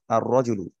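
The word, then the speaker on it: الرجل: লাম যদি লাগিয়ে দিই তাহলে কিন্তু আলটা উচ্চারিত হবে না মানে লামটা আর উচ্চারিত হবে না এটা হয়ে যাবে কি আর রজু আর রজুলু এইটাই হচ্ছে হরুফুল কামারি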